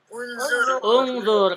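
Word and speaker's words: انظر: Ungzur. Kenapa hamzah waslnya? Karena huruf ketiganya dhamma gitu.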